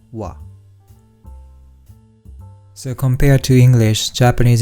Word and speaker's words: は: So what is pronounced ha generally, but when we use this sentence pattern, it is pronounced as wa.